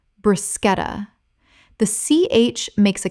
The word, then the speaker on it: bruschetta: Common mispronunciation, brushetta. Correct pronunciation, bruschetta. The CH makes a K sound in Italian, and this word kept its Italian pronunciation in English. Example, the bruschetta at that restaurant is extraordinary.